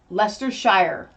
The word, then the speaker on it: Leicestershire: Leicestershire.